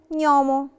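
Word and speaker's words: gnomo: الكلمة التانية نيومو، نيومو يعني قزم، نيومو شلت خالص لترة جي وعوضتها بساوند ني، نيومو.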